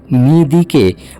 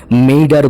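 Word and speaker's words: midi: অনেক মিডিয়ায় দেখলাম ফরাসি শব্দ মিদিকে মেডার বলছে। এটা কিন্তু সঠিক উচ্চারণ নয়।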